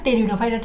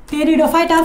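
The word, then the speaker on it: Pteridophyta: আচ্ছা, ব্রায়োফাইটা বুঝে গেছে, এবার আসবে টেরিডোফাইটাটা একটু বুঝে নিই। টেরিডোফাইটা, ফাইটা মানে উদ্ভিদ, টেরিডো মানে হচ্ছে একটা উদ্ভিদ আছে যেটা নাম হচ্ছে টেরিস। এখানে পিটা উচ্চারণ হয় না, তাই এখানে আমরা টেরিডো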